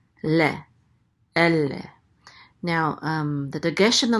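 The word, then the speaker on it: אֵלֶּה: So we put the accent on the first syllable, elle, and elle means these.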